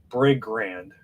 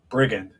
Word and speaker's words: brigand: like a bread Grant I want like a Brig brand I feel like I'm pronouncing that wrong I've got it now brigand a member of a